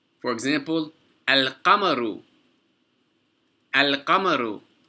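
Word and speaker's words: القمر: For example, al-qamaru. Al-qamaru. The qaf is a moon letter. Therefore, we pronounce the lam.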